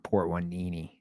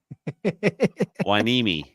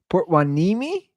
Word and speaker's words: Port Hueneme: Dude, I can't be saying coming to you live from Port Hueneme. No, you could just, you can say whatever you want. Did I say that? Did I even pronounce it correctly? No. Hueneme. Port Hueneme?